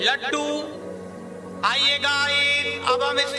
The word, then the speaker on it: لڈّو: यहाँ दाल के ऊपर तशदीद की एराब है।